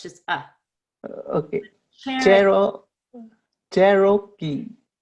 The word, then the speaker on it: Cherokee: Oh, it's not like karaoke. Yeah, so Cherokee Okay. is like an Indian tribe. Okay. It's the name of Okay. an Indian tribe, and it's Cherokee. karaoke. Yeah, Cherokee, Cherokee. not Roki, just Rucky.